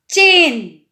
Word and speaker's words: चेन: तो इस तरीके से हम ये वाली मात्रा को प्रोनाउंसिएशन करेंगे, जैसे चेन। चेन, च में ए की मात्रा चेन।